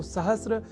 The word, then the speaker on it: सहस्र: पर हम जब अर्ध सकार के बाद र इस अक्षर का ध्यान रख लें तो सहस्त्र इस शब्द के प्रयोग में हम अपने आप को अच्छी स्थिति में पाएंगे अर्थात उसका अशुद्ध उच्चारण नहीं करेंगे। तो यह शब्द सहस्त्र इस रूप में ही सर्वथा शुद्ध है।